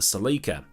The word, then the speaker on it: Celica: hack applied to the seleka and that's the pronunciation i'm sticking with because that's how the ladies said it on the adverts at the time and it wasn't the